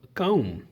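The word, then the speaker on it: comb: बिट थोड़ा थोड़ा और काम य पर आर है कम कम क होता ना कम कम कंगी सॉरी सॉरी कॉम लिखा की सीओ एम बी कॉम कॉम कॉम य पर बी साइलेंट कर देना कॉम क्रोज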